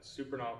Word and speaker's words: Supernaw: your name I'm superal can you spell that for me the first name uh supern s u p e r n a